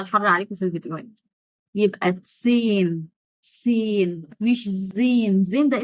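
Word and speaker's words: zehn: وآخر رقم معانا النهاردة هو تسين، مش زين، مش زيهن، غلط، حرف الها في النص.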